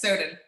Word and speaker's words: Soden: Is that how you pronounce the last name? Yes, Soden.